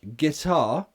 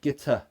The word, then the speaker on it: guitar: so water water water second word guitar the stress is on the second syllable so for that reason it's not a schwa yes it finishes in an R sound but it's an R not it's not get er it's guitar yeah the first syllable